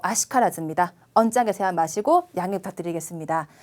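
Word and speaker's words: 悪しからず: 자, 아쿠도 아니고 와루도 아니고요. 아로 읽어요. 뒤에 시가 있을 경우에는 어떤 말이든 저 와루이 한자 뒤에 시가 있으면 무조건 아로 읽어주세요.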